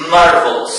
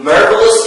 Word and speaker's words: marvelous: The stress is on the first one. the first syllable. Okay, because the big circle stands for the stressed syllable.